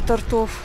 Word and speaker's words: тортов: Вот здесь зашли, не было тортов. Тортов, правильно, ударение тортов. То есть у меня же все зрители лингвисты, все требуют по правилам и нормам русского языка говорить.